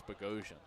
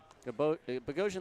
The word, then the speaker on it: Bogosian: And I, most of them get it right by the time it's game time, but they don't assume it's Bogosian. Bogosian like confusion.